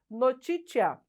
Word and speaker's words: notitia: do nosso idioma, e que lá no latim é pronunciada notitia, tá?